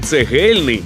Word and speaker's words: цегельний: цегель Цегельний тож запам'ятайте у слові Цегельний наголошуємо другий склад Цегельний Цегельний Цегельний цегельніце